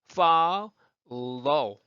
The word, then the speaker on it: follow: follow, follow. 그러니까 자 follow, follow. 자 그런데 이제 보면 follow인데 그 한번 끊어볼게요. 앞에는 모음 뒤이기 때문에 fall. 이렇게 발음이 되고요. 뒤에 low는 low.